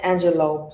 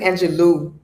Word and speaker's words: Angelou: i did a maya angelou poem i'm gonna say her name properly you know a lot of people say angelou but it's my angelo the last time i